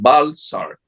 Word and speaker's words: Welser: La primera inversión, incluso extranjera, grande, la hicieron los unos alemanes, que es la casa Bellser. Se escribe Welser. Aquí en América le llaman Balsar, que a ellos fue que les dio el emperador Carlos Io, Venezuela.